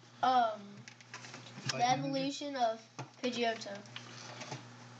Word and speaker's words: Pidgeot: Of Pidgeotto? Pidgeot? Nope, Pidgeot. That's how it said in the Pokemon Meowth, app.